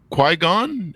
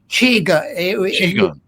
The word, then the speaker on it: Qigong: You're into psychotherapy, Tai Chi, and Qui-Gon. Am I pronouncing that right? Correct? Qigong. It would be CHI if you spell it in.